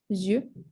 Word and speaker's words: yeux: Yeah, so eyes is going to be yeux. All right, you pronounce it yeux.